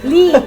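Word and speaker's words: Lea: Just call it Lee. It's Lee and Oh, Lee and parents, not Leia. It's spelled Leia, but you call it Lee.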